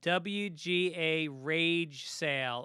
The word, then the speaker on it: W Garage Sale: a charity called uh wga rage sale or I guess they want to pronounce it uh W garage sale yeah that's how you